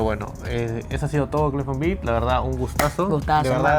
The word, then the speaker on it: Clyphone Beat: Se pronuncia Cliff on Beat, ¿no? Para toda la gente que a veces se confunde. Algunos me dicen Clyphon, hay otros que me dicen Ciclonbeat.